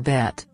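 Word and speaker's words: ב: The letter bet is pronounced as the letter B in the word Bible. So second letter of the alphabet ang bet.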